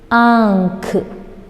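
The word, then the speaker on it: आँख: See this ankh. Okay, ankh. Ankh means what? Eyes. What is this? Camel, right? Now we will pronounce this in Hindi.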